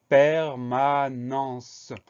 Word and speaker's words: permanence: Le dernier mot de cette première moitié, c'est le mot permanence. C'est un mot long avec beaucoup de syllabes.